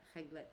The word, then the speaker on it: réglettes: But réglettes still? Okay. It's the same pronunciation.